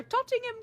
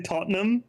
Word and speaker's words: Tottenham: She pronounced too many letters in that word. That was so jarring. A Tottenham cake. Most people say Tottenham is the word, right?